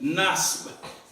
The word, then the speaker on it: نصب: That B at the end, you hear it, a little bit of it. Nasb. Nasb. Okay?